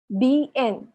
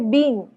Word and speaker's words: bien: जैसे मैंने बोला था, तो bien या bean, बेन ऐसा नहीं बोल सकते हम, क्योंकि हर वावल को प्रोनाउंस कर सकता है. ये आई जो है स्पेनिश में ई है, और ये ई जो है ए है, ए ऐसे करके प्रोनाउंस करता है.